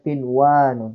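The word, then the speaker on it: قنوان: Jadi dibacanya kinwanon. Nah, itu pengecualian.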